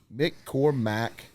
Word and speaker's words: McCormack: McCormack.